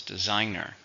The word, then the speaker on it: designer: countable noun how many syllables designer three stressed on a second designer many fashion designers